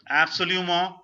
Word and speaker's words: absolument: T is again silent. Absolument. Absolument. More. N is halfly pronounced. N is making a sense or its place halfly, partly. Absolument. Absolument. Like bon. Absolument. Bon. Absolument. Bon. Okay. In both the words, N is making a half partial sound.